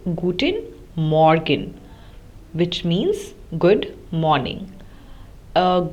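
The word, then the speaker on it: Guten Morgen: at these in German in German we say guttin Morgan which means good morning uh gtin arent which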